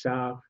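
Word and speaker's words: Sare: So he came to the northern Basque country, to the village of, in French it's Sar, in Basque, Shara, and he did a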